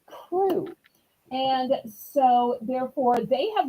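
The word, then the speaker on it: krewe: k r e we which is pronounced crew and so therefore they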